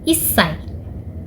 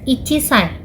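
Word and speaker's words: いっさい: 1 tahun dalam bahasa Jepang adalah issai. Walaupun 1 adalah ichi, tetapi umur 1 tahun tidak disebut ichisai, melainkan issai.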